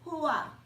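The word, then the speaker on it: Chuah: The C is silent, so it is Hua. Her name is Hua.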